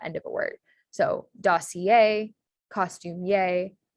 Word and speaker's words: dossier: So dossier, costumier, atelier. So that IER at the end of a word is pronounced yay in French.